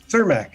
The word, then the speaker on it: Cermak: How do you pronounce it? Cermak, exactly.